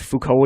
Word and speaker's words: Foucault: full call okay I think I saw I pronounced the fuko's okay so we're gonna go with Foucault is pendulum I actually remember seeing one of